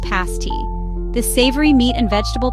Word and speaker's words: pasty: Head to the upper peninsula and you must try a pasty pronounced pasti.